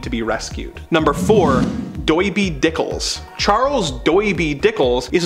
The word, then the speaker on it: Doiby: always wearing but his heavy accent makes him pronounce it doiby he was a skilled Street Fighter and a